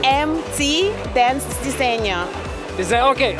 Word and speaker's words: Diseño: So can you pronounce the name of the brand correctly? MT Dance Diseño. Is that okay? Like Diseño.